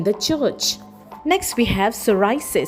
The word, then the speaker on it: psoriasis: Next we have psoriis spelled as p s o r i a s i s and we pronounce as s o o r i a